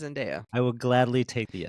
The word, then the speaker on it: Zendaya: to be pronounced Odysseus, and we've just been pronouncing it wrong our whole lives. Well, Only I've been 80% though. saying Zendaya for a long time. It's until Zendaya.